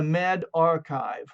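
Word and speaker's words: medRxiv: go to med and it's going to be m-e-d-r-x-i-v and it's pronounced the med archive okay and you can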